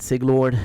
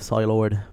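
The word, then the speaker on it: Psylord: mispronouncing my name uh they said sig lord instead of silord because i mean they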